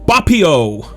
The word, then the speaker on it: Boppio: to another episode on bupio and yes i learned how to properly pronounce it from the dev himself uh if you join